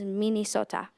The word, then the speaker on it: Minnesota: speak their language like how they pronounce minnesota and dakonen which is mini sota hi my name is